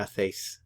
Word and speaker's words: hacéis: Now, in Latin America, the C is like an S sound, but in Spain, they would actually pronounce it a little differently. They would say, ¿Qué hacéis?